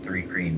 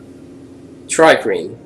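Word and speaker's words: Thri-kreen: we skirted around the three cream mantis dude tree cream what they are Tri cream yeah but it's spelled with an H so I keep calling it three I get it um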